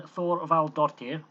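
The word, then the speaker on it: Þorvaldsdóttir: And Thorvaldardottir, yeah, that is how you pronounce that name, misses the penalty.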